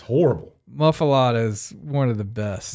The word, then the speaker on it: muffuletta: The Muffuletta. That would be the Muffuletta. Muffuletta. Are you sure? How's it spelled? Well, it's spelled with an E, but everybody says Muffuletta.